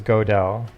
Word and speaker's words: Gödel: I always think I said the first guy's name is Gödel. Is that not right? I will look it up. Okay. But I'm pretty sure it's Gödel.